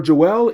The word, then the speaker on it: Joelle: And that would be Joelle. Now, technically for me, I kind of feel I said the name wrong. I did look it up and Google said like, "Hey, it's pronounced Joel. It's French."